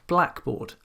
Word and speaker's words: blackboard: So loud is an adjective, but we don't say loudspeaker, we say loudspeaker. We don't say blackboard, we say blackboard. Loudspeaker, blackboard.